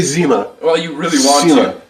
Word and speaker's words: Zima: Can you still even get Zima?